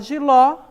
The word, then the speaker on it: jiló: deve ser acentuada e a palavra jiló a sílaba é a sílaba tônica certo ló e percebo que ela